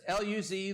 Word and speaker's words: Luz: Yes, formerly it was L-U-Z, Luz or Luz, however you want to pronounce that.